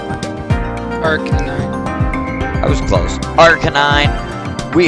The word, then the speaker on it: Arcanine: this pack, blessed by the great Pokemon of Archon. I pronounced that wrong, didn't I? Arcanine.